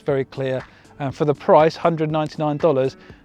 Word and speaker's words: KLYR: The other one to talk about is the TEC KLYR, pronounced clear.